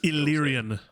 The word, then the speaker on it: Illyrian: My tongue wants to say the Illyrian War, but everybody says Iranian War. What's the pronunciation? It's Illyrian. Illyrian.